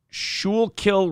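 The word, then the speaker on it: Schuylkill: pronounce it properly uh it's pronounced shul kill River says Stevie Lou I'm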